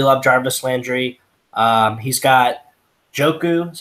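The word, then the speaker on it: Njoku: He's got Joku, is how you pronounce it.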